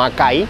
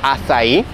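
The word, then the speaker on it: açaí: último el asair sí se pronuncia hasta ahí No acá ahí como lo preguntan alguna gente es hasta ahí y es una fruta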